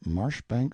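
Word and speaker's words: Marjoribanks: Charles mundely Castle Warwickshire pronounced kacubri slanover Marsh Bank sellers Viscount Barkley of Chumley Castle Yorkshire he is standing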